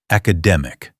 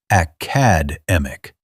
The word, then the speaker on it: academic: Stress on the dem. Academic. Not academic. Not academic. Academic. 4 syllables. Third one loudest.